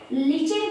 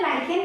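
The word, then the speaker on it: lichen: जो मसाले वगैरह में यूज होता है, जिसे लिचिन कई लोग बोलते हैं, मैं लाइकेन बोलती हूँ, सबकी अपनी अपनी प्रोनाउंसिएशन होती है बेटा।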